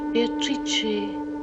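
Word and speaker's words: Beatrice: It is pronounced Beatatrice in Italian which makes it very beautiful. Meeting Beatatrice on the Ponte Veio.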